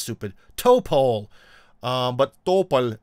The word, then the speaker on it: Topol: give them the uh Topol uh rocket which sounds mental the way it's supposed to be pronounced in Russian topple is some kind of tree I don't remember which